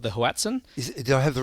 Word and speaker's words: hoatzin: There's still one bird that's really elusive, this bird that you referred to earlier called the hoatzin. Did I have the right pronunciation? Is that hoatzin?